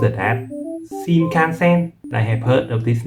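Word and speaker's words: 新幹線: sentence yeah so the First new word is pronounced as SHINKANSEN I have heard of this name before this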